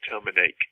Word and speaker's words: Tomanak: But that's why there's the vowel marking over the A in Tomanak and the O in Suthoi. Ah, those aren't just affectations. That's how you say it.